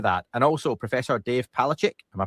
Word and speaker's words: Palachik: And also, Professor Dave Palachic, am I pronouncing that correct, Dave?